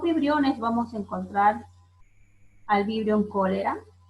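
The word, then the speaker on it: Vibrio cholerae: Se escribe de esta forma, pero se pronuncia como Vibrión cólera.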